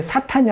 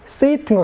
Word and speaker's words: Satan: Satan과 발음이 사탄이 아니라 Satan과 같습니다.